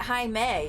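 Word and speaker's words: Jaime: then they're wrong because the way to spell Hae is it's also pronounced Hae usually but anyway it's supposed to be spelled j a i m e and then Jamie is spelled j a m i e I'm sorry listen I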